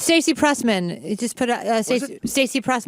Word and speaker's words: Prussman: Oh, it's Stacey Prussman. You just put Stacey Pruss, my name. Spell your last name. Prussman. You can't say Prussman. You always say Pressman.